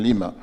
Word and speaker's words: Lima: including the 200 at Lima or Lima whatever we call it Lima well in Peru it is Lima the Spanish pronunciation Lima and um Mr Mayor